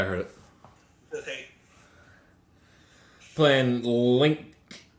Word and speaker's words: Lyngk: Playing Link. You pronounce that linked, right? Link. Link. I'd say link, link. I was Alright. trying to put the G in the K, but I can't say that word.